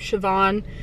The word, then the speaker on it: Siobhan: about it, but I was gonna be named Siobhan, spelled like S-I-O-B-H-A-N.